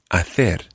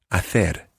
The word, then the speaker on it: hacer: Hace comes from hacer, meaning to do or to make. Hacer. Hacer. And in Latin America, you would say hacer.